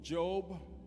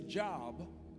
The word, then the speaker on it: Job: to the book of Job. Folk who don't go to church, they say job. But church-going folk understand it's pronounced Job.